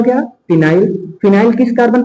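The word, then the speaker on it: phenyl: फिनाइल। क्या नाम हो जाता है? बोलो, फिनाइल। अब फिनाइल की स्पेलिंग बोलो कैसे होती है? पी से शुरुआत होती है फिनाइल की, और इसका नाम क्या है?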